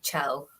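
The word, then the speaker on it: Kjell: read it as Kel, so I just dropped the J, but it's probably mispronouncing it there. So from what I can tell, the best way to pronounce it is Chell.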